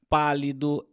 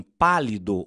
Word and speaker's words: pálido: Em pânico, o A é mais fechado e em pálido, o A é mais aberto.